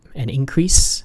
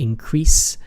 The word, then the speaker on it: increase: syllable, but the verb, normally the way you pronounce it, to increase, is in the second syllable.